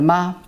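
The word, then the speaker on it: 马: voyez c'est le mamad ma le composant gauche c'est féminin ça signifie parce que maman c'est une femme est le composant droite c'est si on sait pas tout seul ça se prononce ma ça signifie le cheval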